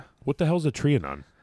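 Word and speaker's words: Trianon: What the hell is a triionon? A triionon or a trian. Triionon. I'm not sure how it's pronounced at this point. It's trian.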